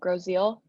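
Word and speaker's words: Grosse Ile: A little bit south of Detroit, a little island called Groseal. Oh, cool. Groseal, that's how they pronounce it? Yep, everybody always pronounces it wrong.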